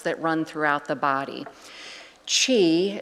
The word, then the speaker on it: qi: Chi, it's spelled QI but pronouncedqi, which means energy uh is said to run through these channels.